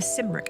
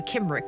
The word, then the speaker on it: Cymric: The Cymric. I hope that's how you say it. Otherwise, it's the Kimric, and I don't believe that. I don't believe in the Kimric. I believe it's the Cymric.